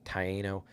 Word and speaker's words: Taino: Yes, it's pronounced Taino.